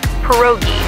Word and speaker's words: pierogi: It's pronounced pierogi, a tasty dish like dumplings.